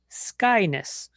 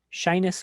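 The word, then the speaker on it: Schinus: I hear people say skyness. People say mole, moye, or mall. Skyness mall, shyness moye, however you want to pronounce it is fine.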